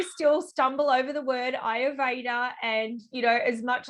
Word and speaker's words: Ayurveda: tricky word it um it is a sanskrit word so it comes from the sanskrit language and ayurveda it is